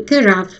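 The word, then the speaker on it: carafe: А по-английски кэраф.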